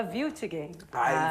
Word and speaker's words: Wiltingen: Para isso, eu recebo aqui ela, que é a psicóloga, a Wiltingen. É assim a pronúncia? Wiltingen é alemão? É alemão, daí fala Wiltingen. Wiltingen.